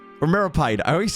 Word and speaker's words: Meropide: What's going on in the Fortress of Metropide? Or Meropide.